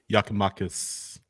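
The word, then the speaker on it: Giakoumakis: Yakimakis. I got that one right. That's how it's pronounced.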